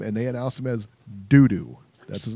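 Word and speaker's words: Doudou: Dudu. D-O-U-D-O-U. Ngumbu. That's his name, and that's how they pronounce it.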